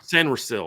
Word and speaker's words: Sainristil: Sainristil? How do you say his last name? Mike Sainristil. Sainristil.